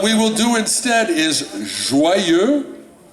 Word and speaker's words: joyeux: What we will do instead is joyeux, one word, 2 syllables, joyeux anniversaire.